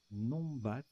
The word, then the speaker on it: numbat: Alors, ça se prononce Nombat.